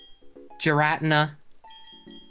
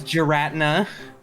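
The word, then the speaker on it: Giratina: Pokemon YouTubers be like, "Yeah, I'm just going to randomly pronounce this in the wrongest way possible." Garatina.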